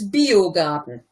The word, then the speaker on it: Biergarten: pronunciation first of all that was actually pretty good except it's biergarten Darton sorry video garden